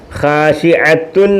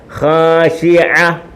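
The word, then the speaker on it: خاشعة: ഖാശിഅത്തുൻ ആയി പദം, പക്ഷെ അങ്ങനെ വായിക്കത്തില്ല. ഖാശിഅത്തുൻ പറയത്തില്ല, അങ്ങനെ പറയത്തില്ല. പിന്നെ എങ്ങനെ പറയും? ഖാശിഅ, ഖാശിഅ, ഖാശിഅ.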